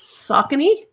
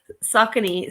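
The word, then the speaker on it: Saucony: wrong it's I it's saky I used to call it s saky sounds funny I I have worn socony before but is where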